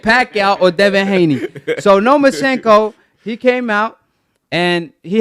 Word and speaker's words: Lomachenko: No Moschenko. Lomachenko, because he want no smoke with Pacquiao or Devin Haney. So, Lomachenko, he came out, and he had an interview